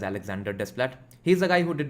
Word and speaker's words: Alexandre Desplat: Different people pronounce his name differently. Alexot Splat Alexandre Desplat etc. I pronounce it as Alexander Desplat.